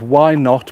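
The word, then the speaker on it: Why Knot: you've got one there called why not but it's spelled k-n-o-t very funny yes I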